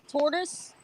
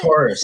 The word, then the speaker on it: Taurus: Yeah, that's tortoise. Whatever it's called, I can't pronounce it. Taurus.